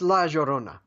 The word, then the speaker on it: La Llorona: It's La Llorona. Because something like that. Yeah, Yes. you pronounce the double L as a J or something.